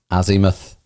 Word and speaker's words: azimuth: to see how to pronounce it and it's pronounced azimuth and what is azimuth well it's better to